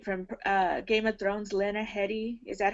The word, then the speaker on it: Lena Headey: There's I hope I'm saying her name right from Game of Thrones, Lena Headey. Is that how you say her name, Lena Headey?